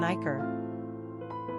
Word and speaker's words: Iker: Quick facts on Iker. Gender, boy. Origin, Spanish. Number of syllables, 2.